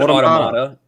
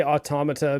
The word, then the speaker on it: Automata: game i i say automata because it's like a i guess a reference to automaton so and that's how